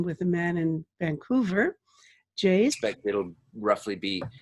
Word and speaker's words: Jase: Is that how you pronounce it? Yes, it is. Yes. Jase.